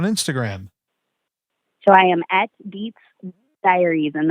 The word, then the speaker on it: Dietz: So I am at Dietz Diaries, and that is spelled like diet with a Z, Dietz Diaries, but it is my last name.